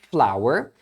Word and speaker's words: flour: palavras flower e flower as duas se pronunciam flower porém a primeira é a farinha de trigo e a segunda que é mais conhecida é flor então geralmente o pessoal acaba falando errado a farinha de trigo porque nem imagina que tem a mesma pronúncia de flor que é flower então por exemplo I